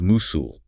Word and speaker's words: muscle: Okay, first word, muscle, spelled M-U-S-C-L-E, pronounced musul.